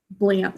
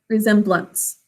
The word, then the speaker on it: resemblance: final syllables and stress that's why we don't say blanc we say resemblance great job emma it